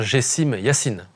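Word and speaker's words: Gessime Yassine: Et les amis, on vous met au fait sur la prononciation correcte. C'est bien Gessim Yassine.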